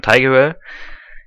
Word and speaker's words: Tigerell: Dann haben wir hier von Tigerell. Mir wurde gesagt, englische Aussprache ist korrekt.